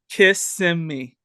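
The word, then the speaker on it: Kissimmee: one more time Connor how do you corre correctly pronounce this suburb of Orlando kiss me kiss yeah kiss okay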